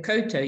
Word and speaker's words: koutou: We kind of talk a bit quick, but actually the proper way to say it is koutou. Tēnā koutou katoa. But we say it quickly. So it's easy to miss that it's got those two vowels in it.